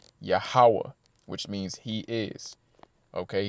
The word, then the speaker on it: Yahawah: and the ha connect so the name is pronounced yahawah which means he is okay he's the Ancient